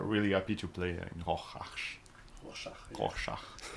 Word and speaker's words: Rorschach: And we are really happy to play in Rorschach. Rorschach. It's pretty hard to pronounce.